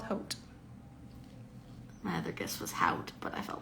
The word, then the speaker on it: haute: I can't really read, Haute. so you know. You did it. Yep, it's called haute. My other guess was haute, but I felt like that was wrong.